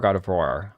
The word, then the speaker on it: Gardevoir: Gardevore Gardavoir. I'd pronounce it voir. It looks French.